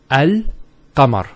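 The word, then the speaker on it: القمر: It's Al-Qamar. So Al-Qamar. So there's a sukoon there on top of the lam, and it's Al-Qamar. There's no issues with that.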